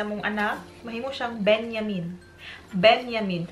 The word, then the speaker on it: Benjamin: Benjamin. Kaya ang J diri is pronounced as yay.